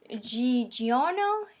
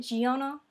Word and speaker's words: Giorno: We're introduced to the new character, Giorno? Is that how you pronounce it? Giorno? Because it's spelled like Giorno. But it's also, you gotta put that accent on it because it's Italian.